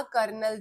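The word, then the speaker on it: colonel: हास्यास्पद भी है कि इस शब्द में आर नहीं आ रहा। फिर भी इसे बोला कर्नल जा रहा है और जहां एल आ रहा है पिछले वाले में एल नहीं प्रोनाउंस हो रहा और इसमें एल प्रोनाउंस नहीं हो रहा। इसके एल को हम आर बोल रहे हैं।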